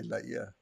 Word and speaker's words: Laie: He did say Laia.